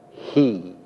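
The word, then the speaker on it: היא: is the one that is pronounced in Hebrew he it translates either she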